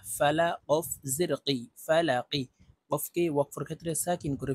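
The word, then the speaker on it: فَلَق: জবর ফা লাম জবর লা ফালা অফ জেরি ফালাকি কফকে ওয়াকফের ক্ষেত্রে সাকিন করে ফেলবো এই কফের উপরে আমরা জজম ব্যবহার করব লাম কফ জবর লাক ফালাক কুল আউজুবি রব্বিল ফালাক মিম নুন জের মিয়াও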